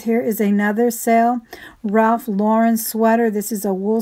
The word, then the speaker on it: Lauren: And just a little heads up, guys, that pronunciation is Lauren. He actually took the name from the movie star Lauren Bacall. So I hear a lot of people pronounce it Lauren, but it's actually Lauren.